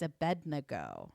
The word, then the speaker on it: Abednego: And so I kept having to pronounce it. It's Abednego.